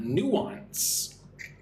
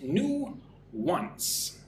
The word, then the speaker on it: nuance: The first one, number one, nuance. Two syllables, new-ance. Nuance, right?